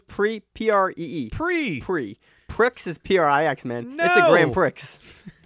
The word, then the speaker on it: Prix: Man, it's spelled Prix. That's Prix. It's Prix. It's French. No, it's Prix. Pree.